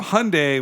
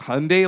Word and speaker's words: Hyundai: When we got there and the reps were there, they're like, it's Hyundai like Sunday, not Hyundai like Sunday, okay?